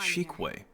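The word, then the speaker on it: Xueyi: What's going on Shikwe. That's how you pronounce it.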